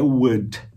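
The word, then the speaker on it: would: E a palavra mágica é wood, que é pronunciado, escrito diferente, mas pronunciado como wood, de madeira.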